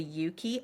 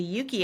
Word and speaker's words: Euki: And then there's another thing, which is the Yuki app. Mm-hmm. It's spelled EUKI.